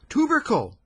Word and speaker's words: tubercle: tuu b e r c l e oh tubercle some disease I suppose I thought he had